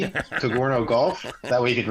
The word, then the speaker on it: Cogorno: you know so the kagoro golf c g o r n o um it's pronounced kind of like a Douro pizza but with a c kagoro golf that way you